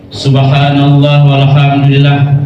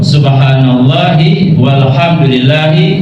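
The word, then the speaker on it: سبحان الله والحمد لله: ke surga Nah jadi bilalnya yang sering subhanallah walhamdulillah walailahaillallah Wallahu Akbar padahal yang betul subhanallahi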